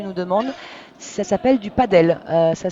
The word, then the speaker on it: padel: Ça s'appelle du padel. Ça s'écrit et break, voilà, break dans ce premier fait set.